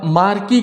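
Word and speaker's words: marquis: मार्की क्या होता है? इसका मतलब है, ये प्रोनाउंसिएशन मार्की है, ठीक, एस चुपचाप है, यानी एस साइलेंट है इसमें, ठीक।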